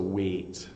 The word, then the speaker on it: weight: own a seven eight we also have weight so again we have G H in this word weight so this is a heavy weight you can see again the EIG H makes an a sound so weight and this sounds the same as the verb to weight which is w AIT so weight and weight